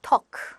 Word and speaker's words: talk: 말하다, talk. talk는요, 여러분. talk, talks. talked, talked. L 발음이 좀 안 나죠.